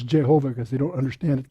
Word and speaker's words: Jehovah: And it's a Yahweh or Yehovah, but in the German the J is like a Y, so it says Jehovah because they don't understand it came from German.